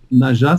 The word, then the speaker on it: Najah: Naja, ça s'écrit N-A-J-A-H à la fin.